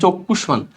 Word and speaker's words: চক্ষুষ্মান: মূর্ধন্য স কিছু সব গ, মূর্ধন্য ন, মূর্ধন্য স এগুলোর সাথে ম যুক্ত হলে ম উচ্চারণ হয়, তাহলে ময়কার মা, সরি দুইটা উচ্চারণ হবে চক্ষুষ্মান।